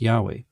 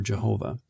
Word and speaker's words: Yahweh: of his deity that's YH wh pronounced Yahweh or Jehovah so he could have